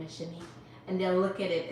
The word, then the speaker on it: Shanique: People are calling me Shaniqua. And I'm like, that's not my name. It's pronounced Shanique.